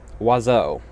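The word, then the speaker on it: oiseau: And want to know how it's pronounced? Wazo. It's not pronounced anything like the way it's spelled. But the thing is French doesn't even have its own writing system.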